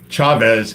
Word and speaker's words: Chavez: Chavez is pronounced with the CH, not an SH.